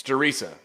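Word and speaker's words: Der Riese: is a remake of darisa which it's theresa look it up the german pronunciation so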